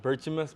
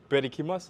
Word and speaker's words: Berchimas: Uh my last name Burchimus, but it's not I mean it's not it's called Bikimas.